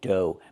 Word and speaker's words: dough: Pronunciation, dough. Make the long O like no and go, and the GH is silent.